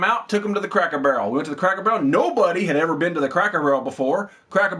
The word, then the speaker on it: Cracker Barrel: So, took them to Cracker Barrel. And from there, we drove to Kokomo. You finally said it right. You've been saying Cracker Barrel like you're all huppity-huppity. You just called it Crackle. Crackle Barrel.